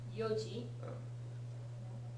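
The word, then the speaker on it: 四時: 4時に、 Yoji, 4時に。 yeah, that's, yon is the normal reading for that kanji, but yo when it's pronounced with yoji, Okay.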